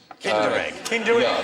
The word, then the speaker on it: Kinder: an extra point below actually rhymes with tinder egg kinder the egg with the